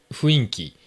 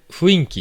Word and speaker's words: 雰囲気: 、あの、ふ、雰囲気じゃなくて、え、雰囲気が